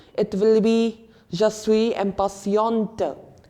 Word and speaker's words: impatient: Again, quite familiar, impatient, what many people will read it as. But in French, the pronunciation is a bit different. It is impatient.